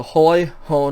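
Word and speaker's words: ᾧ: the dative singular okay so it's pronounced ho it doesn't change the way that you pronounce it but it does have that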